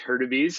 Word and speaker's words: Hurtubise: You're probably wondering how that bizarre name is pronounced, but it's pronounced Hurtubise.